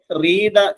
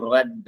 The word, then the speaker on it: read: will have read എന്ന് പറയരുത്. I will have read. READ എന്ന് തന്നെയാണ് അതിന്റെ ഉച്ചാരണം.